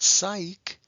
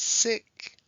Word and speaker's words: sick: let's try this word sick well this one is also one syllable and it's closed and we'll put abrev over the eye because it's not psych it's sick and this one also